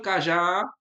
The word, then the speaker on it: cajá: Olha o cajá, então tá aqui, ó. A sílaba forte aqui, ó. O já é a última, né?